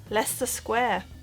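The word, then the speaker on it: Leicester Square: so have your go this is pronounced Lester Square again no explan is just pronounced Lester Square not Lester or leester or Lester or anything like that just Lester Square next up this is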